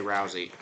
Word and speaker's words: Rousey: But last year I was corrected to say Rousey by somebody on the team. So I think he goes by Rousey, but Rose is another pronunciation.